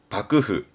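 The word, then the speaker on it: 幕府: 글자는 막자 박고 뒷글자는 정부의 부자죠 이게 막부입니다 발음은 밥그흐 일본어 공부하다 보면 좀 듣는 얘기 단어잖아요 막부이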